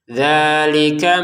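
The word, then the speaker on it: ذَٰلِكَ: Dalika mataul hayatid dunya. Nah, dalika dua harakat panjang dza kafnya pendek. Dalika mataul hayatid dunya.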